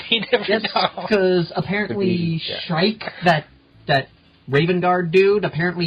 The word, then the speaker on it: Shrike: He's named after a bird. It's Shrike.